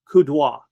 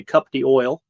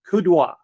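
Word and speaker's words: coup d'œil: Napoleon, he had what was called kudo, which is a fancy French word which a lot of Americans say cupy oil. Okay, kudo.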